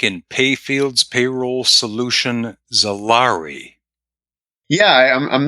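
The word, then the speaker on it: Xaari: tell folks that uh whether it's Zari or salary it's spelled x a a r i so we couldn't possibly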